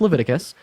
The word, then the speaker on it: Leviticus: there's 1822 levius 18 it's pronoun it's it's pronounced Leviticus uh I have a question so you think